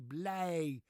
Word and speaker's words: blij: How do you pronounce it? Idge or Eege? No. Are you ready for this? It's pronounced A. IJ is an A, as in ik ben